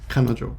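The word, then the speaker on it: 彼女: which is woman but when you put these together they take on a completely uh independent pronunciation which is kanojo often in japanese they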